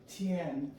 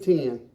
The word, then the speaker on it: Tian: Did I say it right? Tian. Tian. Tian, of course, she has more of an emphasis. I'm Southern, so I said 10. Okay, it's not T-E-N, it's T-I-A-N. It's a French dish.